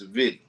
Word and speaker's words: Savitty: It's Savitty.